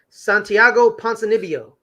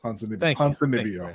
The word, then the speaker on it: Ponzinibbio: God, I cannot pronounce that. Oh, I got you. Santiago Ponzinibbio. Thank you, Ponzinibbio.